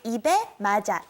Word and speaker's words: 입에 맞아: Ibe maja.